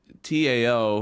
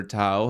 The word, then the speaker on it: TAO: But if you look at the two-day average, it looks like TAO, or Tau, however you want to pronounce it, kind of looks like it got its run early.